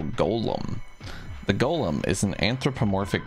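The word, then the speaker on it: GOLM: much to his surprise this ends up being pronounced like Golem anyway on a side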